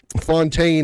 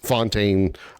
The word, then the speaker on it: Fontaine: That's just my thought because again, thinking about how methodical and how deliberate and meticulous Fontaine uh plans they mispronounced it in game. It's pronounced similar to the English word tune.